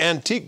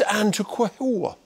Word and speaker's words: antiqua: Some people say antique gold. Can you believe that? It's antiqua, which is a unique pronunciation to exemplify the glory of this particular instrument.